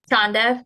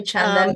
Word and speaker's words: Chanda: say your name Chanda chonda is fine with me yeah it's actually Chanda but that's just harder to say so I'll go with